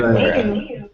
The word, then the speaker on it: Madureira: Madureira. Hey. Madureira, that's how you say it. Madureira. Did she say it? It's a Portuguese name.